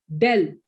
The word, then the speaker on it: del: है, reverse triangle, और इसको पढ़ते हैं डेल। क्या पढ़ते हैं बेटा इसको? डेल। del When you have to pronounce it out ना, you have to say del square।